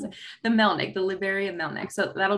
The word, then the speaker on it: Melnik: I was like, I forget how to pronounce it. The Melnik, the Liberian Melnik.